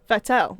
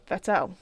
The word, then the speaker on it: Vettel: Vettel. That's because that's how it Vettel. is. That's how it's pronounced. It's Vettel. No, it's Vettel. Vettel. It's with an F.